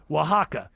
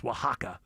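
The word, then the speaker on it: Oaxaca: Starts with an O, but it's pronounced with a W. Wajaka.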